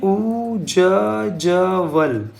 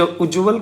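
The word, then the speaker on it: उज्ज्वल: इसका सही अगर हम देखो तो उ आधा ज फिर आधा ज व ल उज्जवल ये है उज्जवल भविष्य की कामना। ये इसका प्रोनाउंसिएशन भी सही है। उज्जवल और ये इसकी लिखावट भी वर्तनी भी सही है। उ जवल उज्जवल दोनों ज आधा-आधा।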